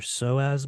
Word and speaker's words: psoas: it's the groin, it's what we call your psoas muscle. For anyone that's not familiar with it, it's spelled PSOAS, and it's a big muscle down there in your hips.